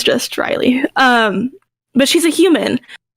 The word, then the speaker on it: Reilly: the chat just mentioned riley or i don't it's it's spelled r-e-i-l-l-y i believe yeah like she's a human like the city yeah right um or like o'reilly auto parts yeah i is know